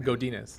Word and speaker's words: Godinez: Did I say it right? You said it right. I said it right. Godinez.